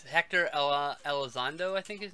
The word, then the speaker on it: Elizondo: It's Hector Elizondo, I think his name is. I fucked his name up. Hector Elizondo.